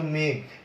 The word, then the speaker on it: মেঘ: তুমি যখন বলছো মেঘ, তখন কিন্তু জফলা আকার দিলে মিলবে না, এটার উচ্চারণ এ কার দিয়ে করতে হবে, মেঘ।